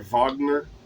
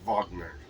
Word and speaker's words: Wagner: France Wagner, uh, or Vagner, probably how you say it.